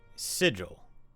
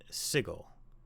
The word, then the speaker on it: Sigil: But you pronounced the name of our fair city, Sigil, not Sigil. And there can be no excuse for that."